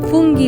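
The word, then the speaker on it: funghi: খাওয়ার চেষ্টা করি সো ফাঙ্গি মানে হচ্ছে মাশরুম ভিজা ইটালিতে ফুঙ্গি বলে ওরা উচ্চারণটা আর নরমালি যেটা ফাঙ্গি বলি আমরা সেটা মাশরুম পিজ্জা কিছু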